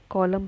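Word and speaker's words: column: हमने हमने money monic नहीं बोला, निमोनिक, एम साइलेंट हो गया यहाँ पे। तो एन है, जैसे कॉलम है, कॉलम का मतलब है खाना या डिब्बा। जैसे कॉलम है, तो कॉलम में हम कॉलमन, कॉलमन नहीं बोला, हमने कॉलम बोला है, एन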